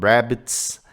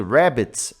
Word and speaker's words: rabbit: Muita atenção na pronúncia do rabbit. Ó, parece que é rabbit aqui, né? Mas, nossa, completamente errado. A gente tem que pronunciar esse R como se fosse um R dobrado, tá? A gente fala retroflexo, né? Rabbit, ok?